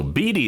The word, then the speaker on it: Beede: number 40 just yesterday so BT is how you pronounce the San Francisco pitchers name and he just